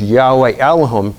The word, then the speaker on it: Yahweh Elohim: No, there's Yahweh Elohim.